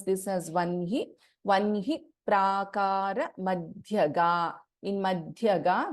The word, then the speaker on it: वह्नि: We pronounce this as Vanhi.